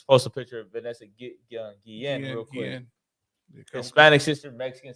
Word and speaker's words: Guillen: Guillen. Guillen? Guillen, yeah.